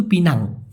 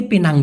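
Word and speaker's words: Pinang: পিনাং পুলাও মানে দ্বীপ তবে অনেকে পেনাং বলে মূলত সঠিক উচ্চারণ কিন্তু পিনাং হওয়া উচিত বানানো পিনাং অনেকে ইংলিশের ভাস ধরে পেনাং লেখে এভাবে লেখেনা যাই হোক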